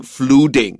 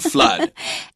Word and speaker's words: flood: common mistake of saying fluting. So mud, flood. And another word that rhymes with it and is also spelled about the same is blood.